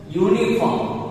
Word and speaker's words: uniform: यू सी द यू. यू is considered as a vowel in our English. But we have to do sound. I told you once again. Sound करना है. यूनिफॉर्म. You like that. Uniform. उसका sound ऐसे होगा.